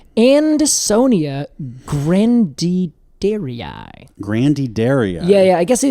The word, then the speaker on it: grandidieri: Because it's named after a person whose last name is Grandidieri. Oh my God. Grandidier is his last name. They add an I to the end of it because they are Latinizing it.